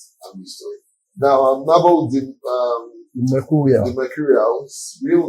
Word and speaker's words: Nabothemercurial: But we call him Nabothemercurial. He's been fantastic. So welcome. Good morning to you. Good morning. Thank you for having me. Did I pronounce the name properly? No, it's Nabothemercurial.